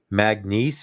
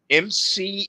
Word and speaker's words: McNeese: I'm going to look up that Magnice. I don't even know how to spell that. MCNEESE. Oh, it's McNeese. I've been saying it Magnice this whole time.